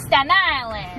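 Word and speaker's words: Staten Island: nice people and two statan dump trash don't pronounce the tea it's St Island got a black tea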